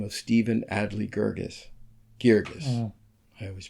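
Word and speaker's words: Guirgis: winning playwright by the name of Stephen Adly Girgis. I always pronounce it wrong. It's Stephen Adly Girgis.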